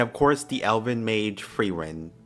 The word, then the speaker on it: Frieren: course the Elvin made frein frin frin I'm just going to say frein that's how they say it in the dub and you see all